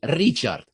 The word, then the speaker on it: Richard: Richard starts with a soft R. So I had to learn how to say it every time I had to introduce myself. Right. Richard.